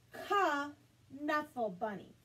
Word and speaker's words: Knuffle Bunny: some research it's pronounced ka knuffle bunny with a loud k sound in the front it's not a tricky